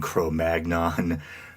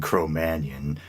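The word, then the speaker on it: Cro-Magnon: it's kind of funny maybe you were raised like myself to pronounce neander tal neanderthal and crom Manion crom magnon uh but seems over time the accepted and probably proper pronunciation is neander tal and crrom Manion uh chroman being the proper French pronunciation I believe but anyway even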